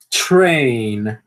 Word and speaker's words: train: Train. Train. Então dá para perceber que tem um chiadinho antes do re, certo?